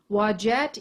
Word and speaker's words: Wadjet: uranus is allied with wajet that name is spelled w-a-d-j-e-t wagette is the cobra she